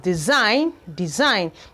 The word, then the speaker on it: design: We have design. The G was equally silent.